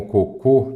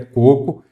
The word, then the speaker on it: coco: esse pão pão com cocô nada disso cara concursando da pronúncia correta é coco e sem acento aqui também assinal alternativa